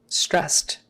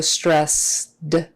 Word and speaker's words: stressed: voiced s is unvoiced so stress d would be hard but stressed is not so when you have that ed ending which is the past tense ending in a lot of verbs or in this case it's an ending for this adjective the final d will take on the voicing characteristics of the consonant